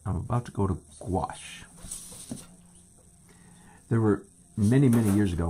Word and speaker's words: gouache: And I'm about to go to gouache.